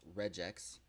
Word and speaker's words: regex: On Wednesday this week, we talked about RE, which is the regular expression, which is often pronounced as regex, and it lets us remove a bunch of different characters with a single entry.